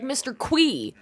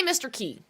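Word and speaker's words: Mr. Qi: Key being pronounced um apparently concerned ape said in an interview that he pronounces it like Mr. Qui and everybody in the comments of that video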